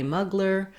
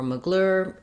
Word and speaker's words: Mugler: name but recognizing that you're going to hear thierry mugler or mugler in american english because of the way it's spelled and americans lack of